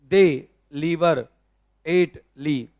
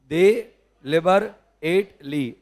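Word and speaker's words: deliberately: थोड़ा डिफिकल्ट है टर्म, तो देखो, दे लीवर एट ली, 4 टुकड़े करो। दे लिवर लिवर एट ली, दोबारा बोलो। दे लिवर एट ली, दोबारा बोलो।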